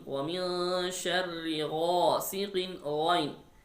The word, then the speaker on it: غ: And there is a ghain. وَمِن شَرِّ غَاسِقٍ ghain. Ghain also throttle letter. We pronounced from closest part of throat near the mouth.